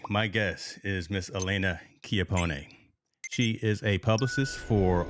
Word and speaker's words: Chiappone: Chiappone.